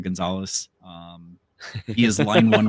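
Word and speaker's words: Gonçalves: Um, which weird it it looks like Gone Calves or Gon Calves. Um, but it's I'll pronounce closer to Gonzalez.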